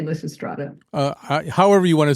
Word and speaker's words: Lysistrata: This title is pronounced at least 3 different ways by actual scholars. So how do you like to say the title? Classicists say Lysistrata.